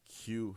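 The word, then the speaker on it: queue: uh so again that's the Q haircut all right Q e UE right there that's how it's spelled um and it was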